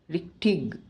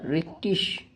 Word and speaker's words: richtig: Next we discussed about IG. It is pronounced as ish or ig. Zum Beispiel Vierzig, Konig, Konigin, Honig, Richtig or Richtisch.